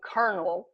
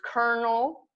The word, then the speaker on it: colonel: It's a play on the words Colonel and Kernel. Both K-E-R-N-E-L is the seed kernel of the corn, what you eat and what you plant. So they're homonyms.